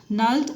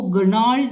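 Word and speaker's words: gnarled: नल्ड and decade at the roots. अब इसको गर्नाल्ड नहीं कहेंगे, जी साइलेंट होगा तो नाल्ड कहेंगे।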